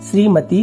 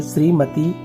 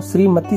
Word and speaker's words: श्रीमती: तो याद रखेंगे, हमेशा आप लोग ध्यान रखेंगे कि जब भी श्रीमती का उपयोग करते हैं तो बड़ी की मात्रा ही उपयोग में लाई जाती है।